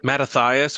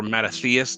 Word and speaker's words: Mattathias: Mattathias or Mattathias, depending on your pronunciation, and then his son Judas Maccabeus are ultimately who lead the Jews against Antiochus.